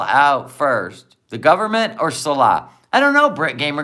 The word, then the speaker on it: Salah: Salah.